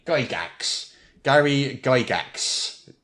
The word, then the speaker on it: Gygax: correctly go Dax Gary Gygax not dry GAX not guy Jax he is Gary Gygax and I can tell